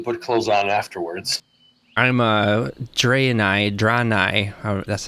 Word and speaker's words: Draenei: I'm Draenei, that's how they were pronouncing it, Draenei. I say Draenei.